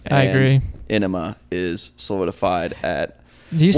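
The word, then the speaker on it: Ænema: Enema is solidified at, Do you Well, say and that's- Enema or Anima? I say Enema. It's enema. It's Anima. Danny Carey pronounces it Anima.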